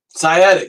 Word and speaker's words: sciatic: Sciatic, that's how you pronounce it.